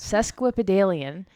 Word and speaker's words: sesquipedalian: there you go I I had it nailed sesquipedalian can also be used to describe someone or